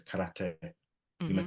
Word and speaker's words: karate: We might say, for example, karate, but that's not the correct way. It's karate.